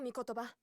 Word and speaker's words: Mikotoba: Ah, Susato Mikotoba, judicial assistant. I wish we could have Ryunosuke so we could hear how that's pronounced as well.